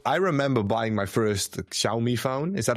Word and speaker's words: Xiaomi: So, I remember buying my first Xiaomi phone. Is that how I pronounce it? Xiaomi.